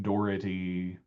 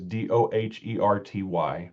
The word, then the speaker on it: Doherty: And I had 15% of responding residents said, "We pronounce it with a hard T." Dherty. Um, Dhy. Dority.